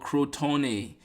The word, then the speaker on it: Crotone: town in southern Italy called Crotone, is the way I would pronounce it, whose members eventually became known as Pythagoreans.